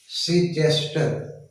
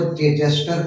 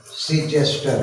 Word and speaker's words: Chichester: William Collins was born in 1721 सीचेस्टर। Spelling थोड़ा सा ध्यान दीजिएगा, CHICHESTER। कुछ लोग इसको चेचेस्टर पढ़ लेते हैं, वो गलत है, सीचेस्टर है। Born at Chichester and died in 1759.